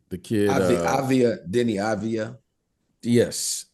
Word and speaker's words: Deni Avdija: How do you pronounce his name? The kid, Deni Avdija.